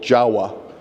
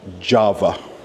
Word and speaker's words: Jawa: that has this brand it's called Jawa I think it's pronounced Java that's in the place in Indonesia however these are motorbikes